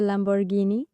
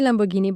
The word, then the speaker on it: Lamborghini: a picture with a Lamborghini? Uh, I say Lamborghini, but it's Lamborghini. Yes, that's the right way to say it.